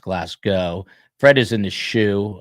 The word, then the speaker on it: Glasgow: Glasgow is pronounced Glasgow.